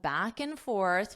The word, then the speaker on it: back and forth: forth back and forth when you have this and you can just pronounce it as an N back and back and forth but you must pronounce it as one word in order for that to sound correct back and forth back